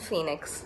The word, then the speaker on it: Fenix: Justice for Jayaraj and Phoenix, and that's spelled F-E-N-I-X.